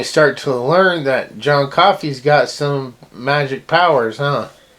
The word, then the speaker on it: Coffey: this man named John Coffey. It's like the drink, not spelled the same.